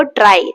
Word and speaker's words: trie: आप जब इसको प्रोनाउंस करते हो आप इसको करते हो ट्राई। ट्राई जैसे हम प्रोनाउंस करते हैं ना सेम वैसे ही इसको जो है प्रोनाउंस किया जाता है।